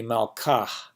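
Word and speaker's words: מַלְכָּהּ: But if the hey at the end of that had a mappiq, it would be malkah, right? I kind of overpronounced it there, but you can hear that I'm pronouncing it.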